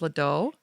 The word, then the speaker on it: Ledoux: I listened to your interview on the Back to My Garden podcast with Dave Ledoux. Is that how you say it? Oh, Ledoux?